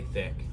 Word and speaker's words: Thique: So it is thick. That is the correct pronunciation.